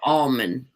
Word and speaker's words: almond: words oh except for almond almonds it's almonds no it's almond milk that's a silent help but in california they